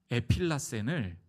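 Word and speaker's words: ἐφύλαξεν: 여기서 이 보존, 보호라고 쓰고 있는 이 원어는요 에필라센이라고 발음되는 단어인데요. 에필라센. 이 에필라센을 예수님께서, 사도 요한은 예수님께서 이렇게 말씀하실 때 이 단어를 이 에필라센으로 기록한 곳이 있습니다.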